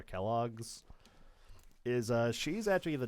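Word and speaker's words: Quelaag: Now, there also is a little something depressing about this boss actually cuz the lore behind Kellogg, Kell Kellag, I think it's actually pronounced, but I just call her Kelloggs is uh she's actually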